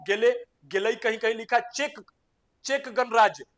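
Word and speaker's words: Czech: गेल कहीं कहीं लिखा चेक चेक गणराज्य सी जड ई सी एच जो लिखा ना इसका मतलब चेक होता है check check Ganraj are for Republic check गणराज्य की है टेगो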